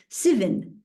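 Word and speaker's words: seven: So for example, 7 in New Zealand is pronounced sivin. Sivin happened.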